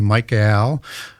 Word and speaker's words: Michael: And I say that just deliberately where I have a EL. Yeah. Why do you say it like that? Well, because in angelic names, they end with a Hebrew word, which is EL, which is defined as an angel or a god.